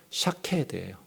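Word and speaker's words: שָׁקֵד: 살구나무가 샤케드예요. 샤케드. 지킨다라는 말이 샤카드예요. 샤케드, 샤카드 똑같죠, 발음이.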